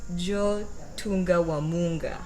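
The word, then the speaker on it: Djo Tunda wa Munga: Joe Tunga Wamunga. That is it. First time and last time I'm saying it. by the way, the D is silent.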